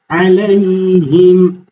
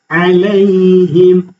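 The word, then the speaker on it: عليهم: Aleyhim. Aynı şekilde eee sesi e sesiyle karışmaması lazım. Ale değil a sesiyle verilmez. Aleyhim. Aleyhim. Genelde y'ye hareke veriliyor.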